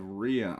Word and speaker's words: Rhea: Island and we have Ria Island which again I used to pronounce as Raya but it's uh anyway um